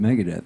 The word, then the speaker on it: Megadeth: did they pronounce Megadeth they didn't say Megan it's Mega Death magadette is playing this